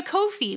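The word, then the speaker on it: Ko-fi: payments we have a kofi which is pr uh pronounced like no fee but it's spelled ko hyphen fi so here are the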